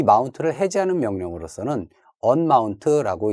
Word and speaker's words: umount: 그 다음에 이 마운트를 해제하는 명령으로서는 unmount라고 읽지만 실제 명령어는 UMOUNT인 umount라고 입력을 해 주셔야 되겠습니다.